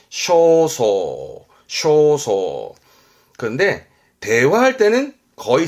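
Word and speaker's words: 焦燥: 발음은 쇼소.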